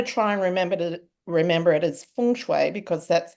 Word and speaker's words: Feng Shui: So I'm going to try and remember it as Feng Shui because that's how you pronounce it.